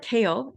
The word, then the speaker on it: CAEL: the kale test itself we call it kale and we spell it this way because kale is